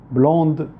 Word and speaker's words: blonde: بلون، بلوند.